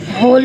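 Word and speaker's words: whole: site में GH silent है, होल में W साइलेंट है, बेनाइन में G साइलेंट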